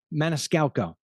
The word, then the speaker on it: Maniscalco: Maniscalco.